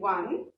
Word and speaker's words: won: जो ONE वाला pronunciation है the same is फॉर WON, one, and then win. Yeah. So the past form of win is one, WON, one.